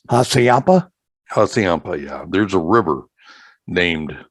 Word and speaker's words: Hassayampa: See, that's that Midwest term. That's how you pronounce it in the Midwest. Yeah, but see, I pronounce it with the Navajo pronunciation, which is probably what it is, I would guess.